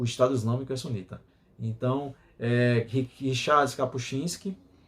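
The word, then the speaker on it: Kapuściński: estado islâmico então Richards capuchinski a pronúncia É capuchinsk mesmo né porque eu puxo muitos s mesmo não é polonês Cristo com fuzil ao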